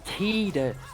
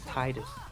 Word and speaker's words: Tidus: It's Tidus and not Titus.